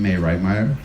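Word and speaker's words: Mai Reitmeyer: Senior research librarian of the museum, May Reitmeyer. Am I pronouncing that right?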